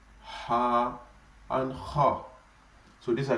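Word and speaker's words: ح: Then the next one, which is Ha. Ha does not really have an English equivalent. It is pronounced this way, Ha, but it is one of the letters that come from the throat.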